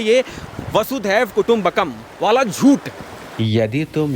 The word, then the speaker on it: वसुधैव: भगवान श्री कृष्ण ने वसुधैव में जो आरंभिक उच्चारण है वसुधैव है वासुदेव नहीं है वसुधा वसुधा का अर्थ